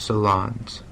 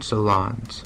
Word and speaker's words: Solondz: Apparently, it's pronounced Solondz. One last time. Solondz.